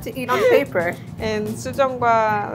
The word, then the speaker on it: sujeonggwa: And sujeongwa, like sujeongwa. It's a sauce? It's a like juice. Usually we are drinking sujeongwa at the end of the meal to digest and then refresh.